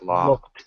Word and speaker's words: locked: I looked my keys in my car. Okay. I looked them in my car. My keys. Pronunciation. It's more like locked.